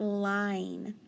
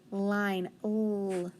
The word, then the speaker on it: line: good i i um in for it to be a long i it's got to have that sneaky e because before i added that e it'd be lin all right on number